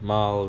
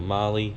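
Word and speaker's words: Mahle: cp bullet pistons and mile rings or marley depending on how you say it kinetic head gaskets and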